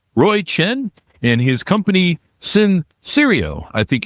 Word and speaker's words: Sensereo: So I will pronounce it as sense rail sense as sense real safety real.